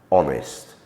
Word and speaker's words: honest: onto the letter H H is often silent at the beginning of a word the earlier example that we gave you was hour as in the time measurement another example would be honest honorable please note that